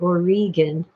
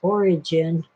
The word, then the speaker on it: Origen: Phil pronounced it Origen, but everybody else says Origin.